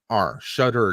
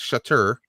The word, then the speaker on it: Shudder: Shudder, not Shutter, but Shudder.